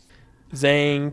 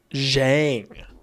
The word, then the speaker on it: Zhang: Zang time. Ah, there it is. The great cat of the skies. The guardian of our terrors. The Zhang. Zhang. Oh. I've been pronouncing it wrong.